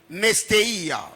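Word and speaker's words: νηστεία: Car le mot jeûner du grec nestéia, nestéia qui s'écrit comme N-E-S-T-E-I-A, nestéia.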